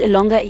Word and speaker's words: longer: On the other hand, the word longer is pronounced as slash ella slash having slash ing slash and not just slash ing slash in standard Englishes.